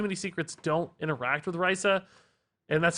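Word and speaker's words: Raza: right now, too many secrets don't interact with Raisa, and that's how she's pronounced, by the way, I learned later.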